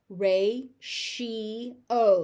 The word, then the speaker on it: ratio: Ratio. So that TI is a sh sound.